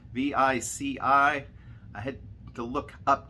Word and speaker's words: Vici: The Venetian itself, as well as the convention center, is being purchased by a company, I'm going to say it's pronounced Vici, V-I-C-I.